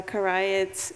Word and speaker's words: Karay: should mention that uh Karay uh is right pronunciation correct uh Cremian Turus and